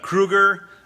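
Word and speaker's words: Krugarr: It's Kruger, and that's the pronunciation of that character's name, who's a sort of sorcerer from another planet.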